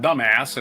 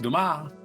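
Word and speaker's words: Dumas: Um, 1802, Alexander Duma, Duma, not dumbass as they say that one movie. French author, it's spelled dumbass, but it's pronounced Duma.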